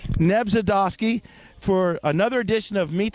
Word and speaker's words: Nebzydoski: Nebzydoski. Nebzydoski.